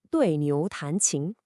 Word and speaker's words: 对牛弹琴: 对牛弹琴, pronounced roughly 对牛弹琴.